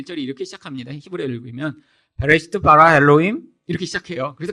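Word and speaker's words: בראשית: 자, 창세기는 원래 히브리어로 베레시트라고 읽습니다.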